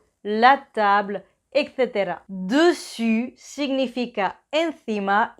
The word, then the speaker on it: dessus: Entonces, cuidado, dessus, dessous, dessus, dessous. Y una cosita más, la S final de dessus y dessous es silenciosa, o sea que no se pronuncia.